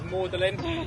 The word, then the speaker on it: Magdalene: He chose to have the French pronunciation of a name which is Mlin.